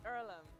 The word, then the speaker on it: Earlham: what opportunity can do is it ireland is it pronounced earlham it's earlham and it's a place